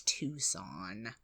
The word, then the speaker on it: Tucson: it's it's a bit weird but yeah it's Tucson I don't think anybody in America mispronounces that oh no no Tusa like tuscal